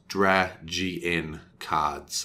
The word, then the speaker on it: DragNCards: If you look carefully, it's Dragon without an A. So it's DragN cards, okay? So it's spelt a little weirdly, but this is the website.